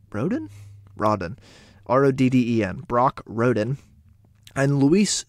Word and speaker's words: Rodden: Rodden, R-O-D-D-E-N, Brock Rodden, and Luis Suisbel, genuinely don't